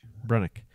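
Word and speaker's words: Brunicke: And they took Harrison Brunke. How do you say it? Brunick. From Kamloops.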